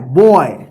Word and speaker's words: boy: जैसे यहां पे देखिए JOY, इसको क्या पढ़ेंगे, जॉय, TOY, टॉय, BOY, बॉय, ठीक है ना।